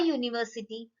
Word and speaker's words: university: For example, a university, a uniform, a useful thing. So children, when we pronounce these words, no, Y sound is there. University, Y. Uniform, Y.